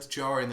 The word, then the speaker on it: Djarin: It's easy to forget that Djarin is spelled with a D. Yeah, that's true. It's a bit jarring.